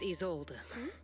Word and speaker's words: Isolde: My name's Isolde. So that's how you pronounce her The name.